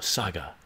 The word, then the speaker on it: Saga: Ripper, is it pronounced Sarga? No, Saga. Saga, for sure.